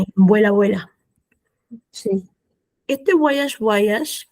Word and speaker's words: Voyage: Este Voyage, Voyage, que se pronuncia así, tenemos Voyage, esta bu, esta O va a sonar como bu, a, yash. Voyage. Es como, no es una I, es una Y.